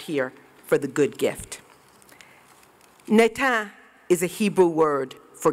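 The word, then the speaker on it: natan: for the good gift netan is a hebrew word for give netan is a palindrome forward or backwards it's spelled n-a-t-a-n i love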